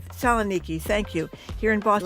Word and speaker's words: Saloniki: Saloniki. Saloniki, thank you.